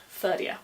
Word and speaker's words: Ferdia: Now one of the most important Connacht warriors is Ferdia, whose name is fortunately pretty easy to say. I generally pronounce it the way the modern name is spelled. Ferdia.